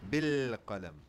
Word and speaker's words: bil qalam: And this one, again, this sukun is on the lam. Bil qalam. Bil qalam. So I will not pronounce any vowel after the lam. It goes straight into the next letter.